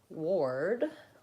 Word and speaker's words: ward: it again down here Ward has or so we think of that as being spelled like this so they're kind of flip flopped right work and world have a no our spelling but an ER sound Ward has an or sound represented an Ikea like this with an O and an ER ward and then again the voice D sound Ward that's a good